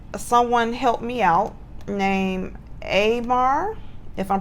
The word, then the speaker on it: Amar: It's spelled A-M-A-R, Amar.